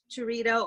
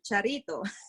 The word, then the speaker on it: Charito: So I have to say my name either, okay, well, Americanized Churrito or Charito. Because churrito, it sounds like food, girl. Just say charito.